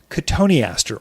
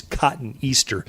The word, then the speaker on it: cotoneaster: A companion plant to that would be cotoneaster, or the way people pronounce it is cotton Easter. That's how you spell it.